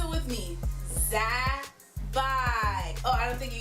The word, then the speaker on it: Zabbai: So pronounce it with me. Zabbai. Oh, I don't think you guys got it. Let's do it together. Zabbai.